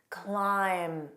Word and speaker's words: climb: Let's review the most common words with a silent B: climb. So notice the pronunciation ends on that M. I don't push it out to produce that BH.